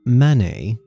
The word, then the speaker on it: Manet: And no, I did not pronounce that wrong. This is Manet, which some confuse for Claude Monet, who was the super famous impressionist painter from the same era.